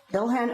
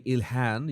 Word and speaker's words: Ilhan: I think the Arabic pronunciation should be Ilhan. You have to pronounce the H.